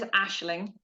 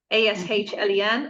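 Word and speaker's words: Aisling: So I want to my name is Aishling, but for everybody in Ireland, that's very easy to phonetically read with that I in.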